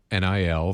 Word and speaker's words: NIL: So I I looked it up how it pronounced NI L for college athletics.